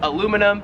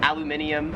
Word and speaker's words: aluminium: We would call it in America aluminum. Here in Australia it is aluminium.